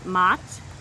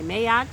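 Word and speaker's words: Ma'at: a million different ways some people say mots some people say may act some people say how does she like it pronounce for me it has become and that's how I pronounce it if I learn differently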